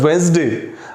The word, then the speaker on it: Wednesday: तो वेंसडे बोलते हैं तो यहाँ पे ये डी साइलेंट हो जाता है, और इसकी स्पेलिंग मिस्टेक हम कर देते हैं।